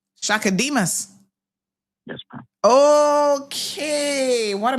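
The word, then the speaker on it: Chaka Demus: How do you pronounce Shaka's last name? Shaka Demas.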